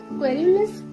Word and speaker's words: querulous: Then the next line, done with indoor complaints, libraries, querulous criticisms. Here the sound of K is repeated pleasingly. Querulous मध्ये सुरुवातीला क sound आहे, spelling जरी क्यू असलं तरी sound क आहे.